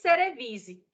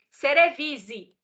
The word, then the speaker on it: cerevisiae: Cerevisiae. Quando uma vogal, quando um A, ele é precedido, ou ele vem acompanhado de um E, depois você não pronuncia esse A aqui. Você pronuncia só o E.